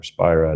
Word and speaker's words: Spira: teachings of someone like Rupert Spira or Spyra depending how you pronounce his surname those were very useful